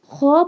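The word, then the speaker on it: خ: Kha pronounced, this one kha pronounced from the middle part of throat.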